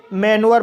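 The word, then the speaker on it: manure: एम को म पढ़ा जाएगा। ए को ए पढ़ा जाएगा। एन को न पढ़ा जाएगा। यू को यू आ पढ़ा जाएगा। आर को रा पढ़ा जाएगा। इ साइलेंट रहेगा।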